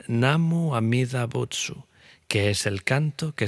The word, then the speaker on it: Namu Amida Butsu: En pronunciación japonesa se convirtió en Namu Amida Butsu, que es el canto que se oye hoy en día.